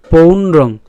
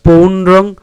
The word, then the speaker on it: পৌণ্ড্রং: ঠিক আছে, তাহলে পাঁচজন্যং হৃষিকেশ দেবদত্তং ধনঞ্জয় পৌণ্ড্রং, এখানে দন্তান্ন পর্যন্ত আগে উচ্চারণ করলাম পৌন, তারপরে উচ্চারণ করবো ড্রং, তাহলে পৌণ্ড্রং দধ্মৌ, দধ দ আর